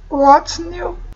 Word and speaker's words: what's: what's new؟ اوكي what's هنا هاد الاس هنايا راه كتنطق قبل داك الاس نطقناها قلنا how's z, ولكن هنا s, what's new.